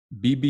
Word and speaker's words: Bibi: BB Shafi. So it's BB.